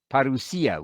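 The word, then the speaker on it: parousia: come back at your parusia we're using the modern Greek pronunciation because it's a living language or Parisi or second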